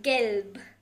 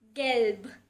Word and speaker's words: gelb: So for color yellow you will say gelb. So in the end you have to pronounce a little bit of B. Gelb.